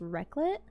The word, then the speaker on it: raclette: So the next, I'm pretty sure this is pronounced raclette.